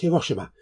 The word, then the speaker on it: Hiroshima: Today is the 80th anniversary of the atomic bomb attack against Hiroshima. And yes, that is the correct pronunciation.